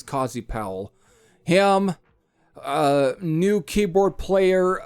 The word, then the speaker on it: Cozy Powell: either at least pronounced cozy pal but i think it's cozy powell him a new keyboard